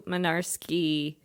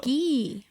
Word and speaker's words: Mynarski: Is Mynarski phonetically spelled? Like, does it? Because to me, that sounds like it could have like a silent G in it. I don't know. No G's. It is spelled with a Y, though, in the... Mynarski. So, Mynarski. Oh, not where I thought the Y was. Ki. Yeah. Okay, no. It's Polish. It's Polish. It's Polish. Spoiler alert for the episode.